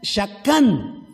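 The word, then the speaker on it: שָׁכַן: También hay otra palabra que se lee así, mishkan, que significa tabernáculo o la morada de Dios, que deriva otra palabra que se pronuncia shakán.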